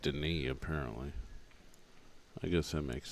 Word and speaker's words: Denis: 73 to 57 in favor of daughter over Den I always said Dennis but it's pronounced Deni apparently I guess that makes sense 73 57